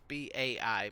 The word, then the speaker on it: bai: for example in Basque the word for yes is by so it's Bai but like they say it like we would say goodbye Christ I can't remember